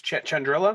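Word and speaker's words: Chandrila: but it's from her old Planet which is chandrilla did I pronounce that right yes so mama if you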